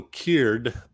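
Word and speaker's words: Kier: dracula from mikey z udo cured rhymes with weird yes it does what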